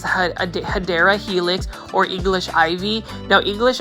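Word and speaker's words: Hedera helix: we have everybody's favorite this is a HRA helix or the correct way to say is hadera helix or English ivy now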